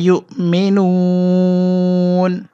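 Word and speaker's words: يؤمنون: আর এখানে 3 আলিফ লম্বা করে পড়তে হবে, এখানে যে মদ হয়েছে এই মদের নাম 3 আলিফ, মদে আরদি উচ্চারণ হবে বাল আকসারুহুম লা ইউমিনুন।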